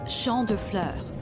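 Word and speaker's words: Champs de Fleurs: Champs de Floors? How do you say that? It's Champ de Fleurs. It means field of flowers.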